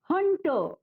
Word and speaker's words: hunter: Spelling है HUNTER, लेकिन यहाँ पर भी जो आर है वो साइलेंट है। उच्चारण करते समय या बोलते समय हम आर पर बिल्कुल भी जोर नहीं देंगे और इसे पढ़ेंगे हंटर।